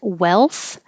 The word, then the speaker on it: wealth: swirling categories categories and wealth the forget about the a and now you just have the e-l and the l doesn't